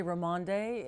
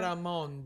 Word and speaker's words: Raymonde: But some people say Raymonde if they give it a little more of a Latin Tania flair. Raymonde. That also works. Raymond is like the American pronunciation.